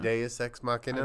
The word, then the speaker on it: Deus Ex Machina: Deus Ex Machina. I believe that's how it's pronounced.